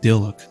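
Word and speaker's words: Dyluck: I know that's an unpopular way to pronounce his name, but I like saying Dilek like Dylan.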